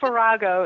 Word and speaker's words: Virago: And is that pronounced Virago? I think Virago is, that's what we always say.